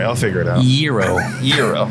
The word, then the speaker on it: gyro: I learned today that it's not pronounced gyro. Gyro. It's pronounced Hero. Euro. Is that what? Euro. Euro. Euro. What did Renee say inside? She said Euro.